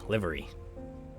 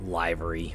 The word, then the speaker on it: livery: look at the menus huh all right hey livery I think I mentioned this already but I used to pronounce it library but um uh one of my friends that's